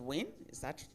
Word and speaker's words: WIN: Let me again commend the concept of women in hospitality Nigeria, which is pronounced WIN. Am I correct? WIN. WIN. That's interesting.